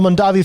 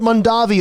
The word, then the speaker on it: Mondavi: Well, when Cesare came to the United States, he ended up changing the pronunciation of their last name so it was more Americanized.